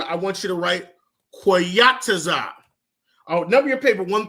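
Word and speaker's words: qayataza: So, number one on your paper under seasons, I want you to write quataza.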